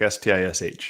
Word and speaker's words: Szczys: It's Szczys, right? It's Stish, like S-T-I-S-H.